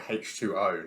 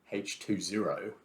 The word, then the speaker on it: H20: That's kind Everyone calls it H2O, not H20, because the Americans say O instead of zero.